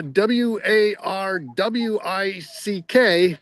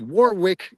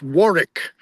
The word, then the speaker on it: Warwick: of the times the the way English place names are spelled do not necessarily reflect the way they should be pronounced. For although it is spelled uh w a r w i c k and you might think is Warwick, it's not.